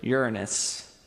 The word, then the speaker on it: Uranus: Is it Jupiter, Mercury, Venus, or Uranus? And yes, that's how you pronounce it.